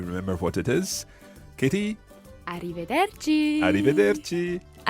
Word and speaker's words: arrivederci: it is arrivederci Francesca let's hear the proper pronunciation of this arrivederci kitty dirty and this literally means until we